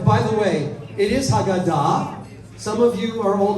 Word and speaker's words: Haggadah: Some of you are old Ashkenazi Jews, and you say, open the Haggadah. Right? I get it. But the modern pronunciation would be Haggadah, the accent being on the end.